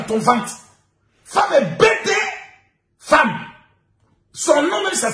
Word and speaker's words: femme: Femme. Son nom même ça s'écrit F-E.